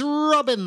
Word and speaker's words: Robin: My name is Robin. That's spelled R-O-B-I-N. If you spell your name R-O-B-Y-N, your name is Robin.